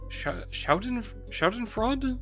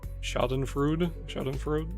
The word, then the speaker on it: Schadenfreude: This is it Schadenfreude? Schoden? I don't know how to say it. The Abno from goddamn LobCorp. Ooh! Schadenfreude?